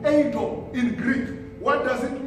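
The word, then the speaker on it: εἴδω: So family, the word no is pronounced eido, eido in Greek.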